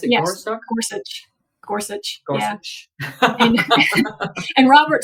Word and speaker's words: Gorsuch: Because for both it was Neil how do you pronounce it? Gorsto. Gorsuch.